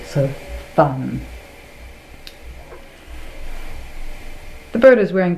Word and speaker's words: van: the actual word is fun, sort of pronounced between an F and a V, so fun.